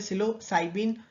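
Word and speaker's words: psilocybin: ठीक है, जैसे इसके एग्जांपल में होता है मैस्कलीन, सिलोसाइबिन, ठीक है, पी साइलेंट है, सिलोसाइबिन, कैनाबिनॉइड्स एंड एलएसडी।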